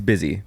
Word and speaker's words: Busy: I up until very recently was pronouncing her name Bussy Phillips. Bussy Phillips. Bussy Phillips. You're probably not the first. She probably does get that. Yeah, But her name is just Busy. Just Busy. B-U-S-Y.